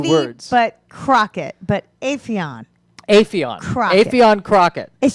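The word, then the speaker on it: Aphion: And then in Claremont, we have Avion Crockett. Don't you say Afion Crockett? Oh, I think you're right. It is I Afion. have to say his name right. It's Afion. Avion Crockett.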